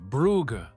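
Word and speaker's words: Brugge: Ah, Buga, or in French, Bruge. He pronounced it correctly.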